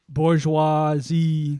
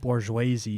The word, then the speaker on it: bourgeoisie: Bourgeoisie. Like Scorsese. Bourgeoisie.